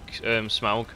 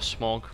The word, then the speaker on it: Smaug: He really does sound like Smaug, or Smog, like whatever pronunciation you want to go with.